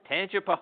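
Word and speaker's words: Tangipahoa: got to set me straight how do you pronounce the home your hometown it's called tan pooa tanip pooa all right there we go wow so Michael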